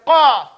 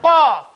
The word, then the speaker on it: qaf: And the qaf is in the back.